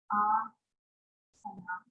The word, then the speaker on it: asana: Asana. So it's a long A. Okay, so it's asana as opposed to asana. If it was asana, there would be a long A in the middle. Here. So we could just pick this letter right off the board. And then it's a regular sa sound. It's not an SH, right?